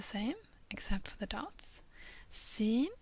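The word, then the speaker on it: س: except for the dots sinen is a normal s Sheen is pronounced as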